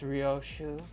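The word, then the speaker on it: Ryōshū: How do I pronounce this name? Okay, thank you. It's Ryoshu.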